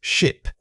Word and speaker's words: ship: Saying this word requires a quick clipped sound. The key is that the short I vowel should feel tight and brief in your mouth. Don't let it stretch out.